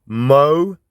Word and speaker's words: Molossia: They're pronounced Molossia. So I was right. When I said Molossia, I was right with Molossia.